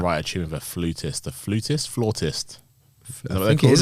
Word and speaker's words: flautist: So It's flautist. God damn it. Okay, keep that in. Don't edit that out. It's Do not edit that out. Shut down. Yeah, it's flautist, but it's spelled Flautist.